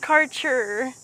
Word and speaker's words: Kärcher: It's pronounced karcher.